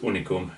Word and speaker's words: Unicum: herbaceousness of the tea uh reminded him of unicom which is actually pronounced unicom in hungary it is a dark liquor made